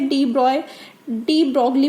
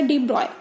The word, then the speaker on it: de Broglie: तो अब आपके एक साइंटिस्ट थे डी ब्रॉगली भी बोल देते हैं, बट करेक्ट प्रोनाउंसिएशन है इसका डी ब्रॉय।